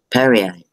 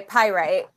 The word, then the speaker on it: pyrite: I'm actually wearing one of my favorite labradorite stones with perrite. I I'm sorry, I can't. Yeah, it's okay. Pyrite. Yeah. Whatever. She's picking on me again, Mom. I'm not picking on you. You said you didn't know how to say it, so I told you how to say it.